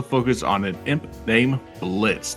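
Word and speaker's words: Blitzø: on an imp named Blitz the O is silent who is trying to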